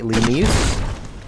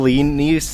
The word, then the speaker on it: Lanius: You will kill Lenius and you will like it. Or is it Lanius? Oh, that's right. I'm pronouncing it the way Caesar's Legion would do it.